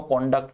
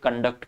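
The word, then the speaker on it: conduct: जब नाउन होती है तो इसको कॉन्डक्ट कहते हैं, वर्ब होती है तो कंडक्ट कहलाती है, वर्ब होती है तो उसका प्रोनाउंसिएशन होता है कंडक्ट, नाउन होती है तो इसको कहते हैं कॉन्डक्ट, ठीक है ना।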